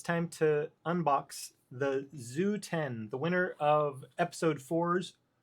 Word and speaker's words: XU10: Hey fam, Pick here, and it's time to unbox the Zoo 10, the winner of episode 4's Wheel of Review. So, yeah, it is pronounced Zoo officially from what I have heard.